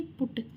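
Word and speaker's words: put: तीनों का प्रोनाउंसिएशन बोलने में एक जैसा, जैसे सट, कट और बट, बल्कि इसका अलग है, जैसे पुट।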